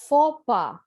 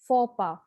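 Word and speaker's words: faux pas: this is pronounced as fopa so the x and the s are clearly silent we pronounce this as fopa which means a mistake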